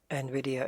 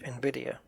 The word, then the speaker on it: Nvidia: So you get that's kind of a clue that Nvidia is pronounced Nvidia.